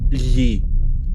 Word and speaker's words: lhe: Lhe. Lhe. It's spelled LHE. And it's like it's weird because like that sound itself is really easy to make.